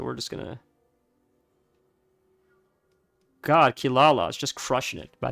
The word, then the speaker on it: Kirara: songo demon cat really it's spelled Kirara k i r a r a I believe but my understanding is I could be incorrect Tor if you want to correct me I believe the r and the l sound